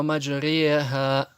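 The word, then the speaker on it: مجراها: В первом слове это слово маджриха, и этот знак указывает на ималя. И читается она между и е.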